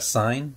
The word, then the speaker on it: sign: La letra G en la palabra sign no se pronuncia.